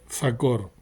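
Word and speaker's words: זכור: lo recuerda con la la palabra sacar que significa memoria se pronuncia sacor acuérdate guardar el día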